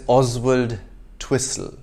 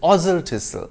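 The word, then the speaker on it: Oswaldtwistle: then of course there's oswald twissel except it's ozil tissue this town is in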